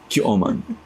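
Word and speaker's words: Qu'you'oman: Kyoman. Well, I'm not going to remember that. How do you spell it? Q-U apostrophe Y-O-U apostrophe O-M-A-N. Oh, like human.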